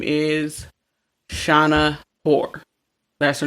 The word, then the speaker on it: Hoare: Now, this girl's name is Shauna Hoare. That's her name. Shauna Hoare. It's spelled Hoare.